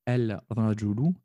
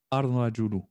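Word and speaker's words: الرجل: On ne dira pas el rajulu, mais on dira arrajulu, arrajulu. On essaiera, en fait, d'insister sur la lettre pour montrer qu'il y a bien alif lam quand même.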